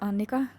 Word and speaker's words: Anneka: go my name is anneka and it's pronounced like that because I'm from Finland and I'm 26 years